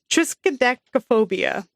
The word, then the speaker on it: triskaidekaphobia: Triskaidekaphobia.